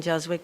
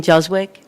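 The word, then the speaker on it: Juzwiak: Jwick, 2785 Fry Road, Williamstown 08.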